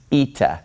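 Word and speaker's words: ήτα: a little bit further this letter is pronounced Ita so we have Zita and then we havea Zita Says Z Anda makes an e sound this is a vowel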